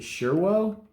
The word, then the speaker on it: Surewo: I got I think it's called, I think you pronounce it Surewo, S-U-R-E-W-O.